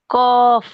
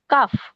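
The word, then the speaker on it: قاف: কফ না কাফ? না কাফ না, কফ, আকার ছাড়া।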